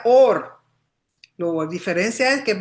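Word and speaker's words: עור: Se pronuncian igual, or, pero or con aleph es luz y or con ayin es piel.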